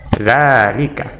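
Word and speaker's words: ذلك: Tetapi secara ketika dilafazkan maka dia akan menjadi panjang seperti ini. Zalika. Ya. Dan tidak ditulis seperti ini tetapi ditulis ini, tetapi secara pelafazan ketika kita membacanya itu seperti zalika ya.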